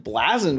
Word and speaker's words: Bleazard: blessed to have blasen with us the one and only and I said his last name right it's it's said different than it's spelled actually he's rocking the